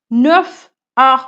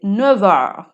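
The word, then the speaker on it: neuf heures: 9 heures বলবো না, আমরা বলবো Il est 9 heures. সো এখানে F এর জায়গায় V প্রোনাউন্স করব।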